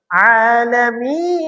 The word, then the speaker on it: العالمين: করব আলহামদুলিল্লাহি রাব্বিল আলামিন এটা অবশ্যই আইন চাপতে হবে আলামিন অবশ্যই আমরা এই জিনিসগুলো